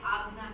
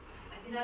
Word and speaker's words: Ajna: So some people this is pronouncing like a Agna chakra. Ajna chakra.